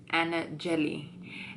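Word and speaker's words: Anajely: Like, I'm like, no, it's Anna Jelly. And they're like, because it's actually spelled like on my social media, I spell it with double L because it's easier to pronounce.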